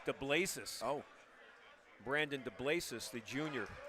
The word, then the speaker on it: DeBlasis: I want to correct myself. It's pronounced DeBlasis.